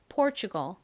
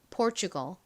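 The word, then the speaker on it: Portugal: 한국식으로 포르투갈이라고 부르는 나라입니다 한국식 발음과 제 영어 발음이 상당히 달라서 외국 사람한테 포르투갈 이렇게 또박또박 발음하면 모라라들을 확률이 높습니다 자 다시 한번 미국식 원어 발음으로 연습해 볼게요 pgal 포르투갈을 의미하는 포어이라는 단어의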